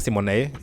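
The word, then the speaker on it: Symoné: Y esto es una cosa que Raven Simonet, porque al parecer se pronuncia Simonet y ella solo nos corrigió hace poco, es que a ella hace unos años le fundaron por decir esto.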